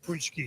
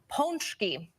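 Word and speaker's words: pączki: We say punchki here. You say punchki here. Wrong. That is absolutely wrong. So- Listen carefully. Watch my lips. Looking in. This one. Ponchki. Ponchki.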